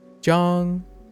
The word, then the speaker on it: 张: So on the other hand, ong uses an A as the same open ah sound. So zhang, 张 yeah, zhang, zhong.